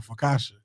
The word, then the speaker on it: focaccia: pronounce this bread. I assumed it's like Focaccia.